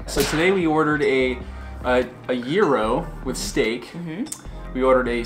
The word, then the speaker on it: gyro: gyro well you know a lot of people will say gyro but it's I think it's technically if you're from Greece and you're speaking Greek it's it's zero zero tell us how you